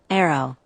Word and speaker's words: Aro: 2 syllables, 3 letters. Arrow.